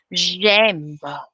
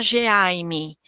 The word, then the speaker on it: J'aime: Eu não posso falar Geaime. Eu não posso falar G e depois M, depois de um tempo M. Não, eu tenho que falar tudo junto. Eles não estão separados.